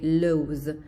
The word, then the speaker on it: loathe: Alors ici, c'est de confondre love et loathe. Loathe, il y a ici une diphtongue. Loathe, c'est le son O, O. Loathe, comme dans boat, loathe.